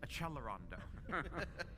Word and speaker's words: accelerando: I can't tell a how many people love to write and say you're mispronouncing accelerando. You have to pronounce it in the right Italian way which is achelondo.